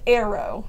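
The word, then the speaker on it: αἴρω: away or cuts off is a word that's pronounced aero, and it's spelled A-I-R-O. And to me, this gives the passage a whole new meaning, because aero means to lift up or to take up.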